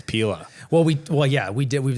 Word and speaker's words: Pela: It's not Pela, it's Pela.